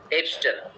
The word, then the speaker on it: abstain: এবস্টেন মানে ABSTAIN, এটা উচ্চারণ কিন্তু অ্যাবস্টেন না, এবস্টেন।